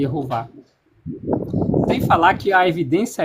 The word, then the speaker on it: Yehovah: Então, o nome de Deus com as com as consoante vogal, consolante vogal é pronunciado como tá aí na sua tela, errou vá, e errou vá.